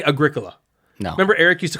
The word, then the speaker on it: Agricola: with the pronunciation yeah like people cannot say agricola no remember eric used to call it agricula yeah agricula people call it agricola agricola yeah it's agricola that's just agricola that's the only way to pronounce it okay caverna it's not cavernous it's